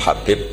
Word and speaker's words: Habib: yang nulis Abi Abdurrahman Habib assulami itu di harakatnya kitab itu ada yang nulis khubb Yang benar Oh gigih yang benar itu bacanya habib habib itu asulami itu ikut